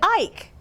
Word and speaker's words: Ike: So let's look at Mike. We have a long I in Mike, and there is a silent E. The same is true with Ike. The I is a long vowel sound, and the E is silent.